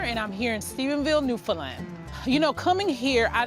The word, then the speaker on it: Newfoundland: They've even dealt with me messing up the pronunciation because I wanted to say Newfoundland because that's what it looks like. Then I wanted to say Newfoundland, and then they worked with me to understand that it's Newfoundland.